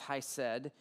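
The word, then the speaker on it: חסד: And so the word that we translate into grace from the Hebrew is actually hesed. It looks like he said or hesed, something like that, but I'm told it's pronounced hesed, and it represents loyalty, faithfulness, goodness, godly action, mercy, and compassion.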